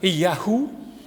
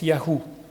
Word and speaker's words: YHWH: y V YH WH ce qui se prononce Yahou comme dans natanou nataniaou l'éternel a donné alors c'est vrai que